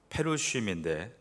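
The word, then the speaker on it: פרושים: 바리새인은 히브리 발음으로 페루쉼인데 분리된 자들이라는 뜻을 가지고 있습니다.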